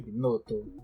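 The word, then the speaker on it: Binotto: apresentação foi bacana você viu é binoto assim pronuncia binoto par que é suíço né mas enf é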